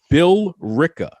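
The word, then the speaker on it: Billerica: want you all to pay attention she said Bill Rel or whatever the heck that was it's Bill R Bill R Massachusetts okay that's how it's pronounced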